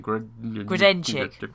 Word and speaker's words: Grodenchik: It's Sovak, but he's played by Mac's unpronounceable surname. Grodenchik.